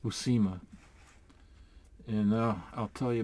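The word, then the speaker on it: Buscema: out his name is pronounced Jen it is pronounced busima and uh I'll tell you about that in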